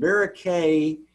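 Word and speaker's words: Verocay: And varicae rhymes with A, so it's Antony A type of schwannoma or neurolymoma when you get varicae bodies like this.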